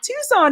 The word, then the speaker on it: Tucson: about that recently uh eler says Tucson ah Tucson is how you say it Sabie I don't